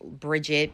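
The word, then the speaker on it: Brìde: So, yes, according to Scottish lore, bride, which could have been Bridget, but it's just the pronun pronunciation would have been bridge. Uh, given the D in Scottish GI gives a J sound.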